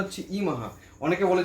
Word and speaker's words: Yemaha: হচ্ছে ওয়াই ই এম এ এইচ এ মানে ইমাহা উচ্চারণটা হচ্ছে ইমাহা অনেকে বলে যে ডুপ্লিকেট ইয়া এটা ডুপ্লিকেট ইয়ামা